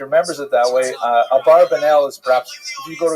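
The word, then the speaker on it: Abravanel: they'll say a barbanell is a popular song. A barbanell. Ba a barbanell. You've heard it. Um and um but the probably correct I'm following Netanyahu probably correct is Abraanel. That's probably how he pronounced it more or less with my Canadian accent.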